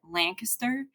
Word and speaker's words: Lancaster: I also pronounce uh the town we used to call it Lancaster when I grew up in Missouri but here they call it Lancaster and I noticed the